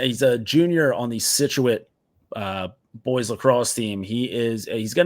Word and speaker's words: Scituate: They play against, so this is a Massachusetts school where I don't really know the pronunciation of this one. Falmouth. Okay, I was way off on that one. I got Scituate right though, so I'm good on that one.